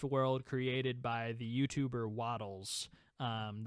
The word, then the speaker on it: Wattles: created by the youtuber waddles um that is spelled w-a-t-t-l-e-s not waffles not waffles i made that mistake not waddles like uh how a duck walks he does like grapes